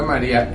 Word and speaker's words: María: A pesar de que la I en este caso, es una vocal, que es una vocal cerrada, tiene un mayor golpe de voz, una sonoridad, está la sílaba tónica, y eso hace que sea independiente de la A, y por eso se puede decir que ahí hay un hiato. O sea que la palabra María es un hiato y además es una palabra grave.